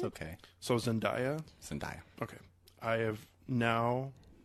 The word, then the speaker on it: Zendaya: It is Zendaya.